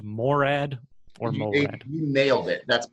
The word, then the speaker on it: Morad: out with Jeff and is it actually pronounced Morad or you nailed it that's perfect not even everybody in my family says it that perfectly it's Morad yes well I had come across an article